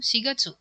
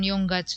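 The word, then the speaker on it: 四月: Sigatsu. Jawabannya adalah sigatsu. Ya, bulan April itu cara bacanya bukan yong gatsu tapi sigatsu.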